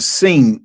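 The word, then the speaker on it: שׂ: and the 22nd letter because the sheen uh it has two different pronunciations. you have the sheen and you have the scene of of pronunciations.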